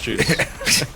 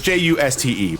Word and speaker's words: Juste: I'm sorry, it's Juste, but it's That's pronounced like Juice.